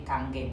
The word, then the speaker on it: Kangen: Jadi Kanggeng, bacanya Kanggeng, sanes kangen ya, sono.